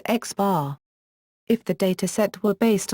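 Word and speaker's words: x̄: The arithmetic mean of a set of numbers x1, x2, xn is typically denoted by, pronounced x bar.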